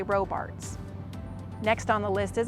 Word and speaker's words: Robarts: This is commonly mispronounced, but we do say Robarts.